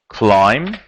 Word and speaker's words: climb: After cast we have climb climb B is silent okay the past form